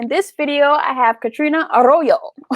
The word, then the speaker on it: Katerina: name okay so um i grew up being called katrina uh but it's spelled like katarina i think because the